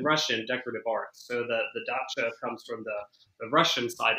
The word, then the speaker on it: dacha: Yeah, well, hey, that's not my world of things, but I say dacha. But Marjorie Post was an avid collector of French and Russian decorative art. So the dacha comes from the Russian side of things.